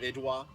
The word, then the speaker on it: IDW: So I'm a big fan of Idwa. Right. You might know them as IDW. Okay. Yes. Yeah. Yes, Idwa. the pronunciation, it's actually pronounced Idwa.